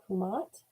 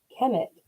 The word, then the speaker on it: Kemet: Oh, it was pronounced Kumat by the ancient Egyptians. I apologize if I did not pronounce that correctly. Kemet was what we knew at the time before we fully knew how to pronounce the language. Interesting. Okay, thank you. And Kumat are both the same, just different pronunciation.